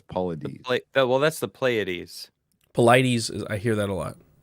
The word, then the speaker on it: Paulides: I want to say the Paulides, but it's Paulides. Well, that's the Pleiades. Paulides. I hear that a lot. David Paulides. I think we can go on Paulides.